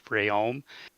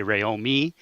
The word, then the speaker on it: Rayome: promised them I would correct you it's rayome and Dean gets a kick out of it when you say ROM me but it's actually rayol